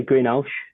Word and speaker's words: Greenhalgh: How do you pronounce it? I say Greenhalgh.